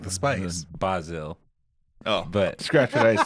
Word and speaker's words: Bazille: I appreciate it's Bazille. Bazille. It's basil, like the Basil. spice. Yeah. Oh, it's basil like the spice. Bazille.